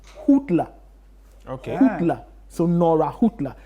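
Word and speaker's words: Häuptle: So apparently the coach in surname be Hootler.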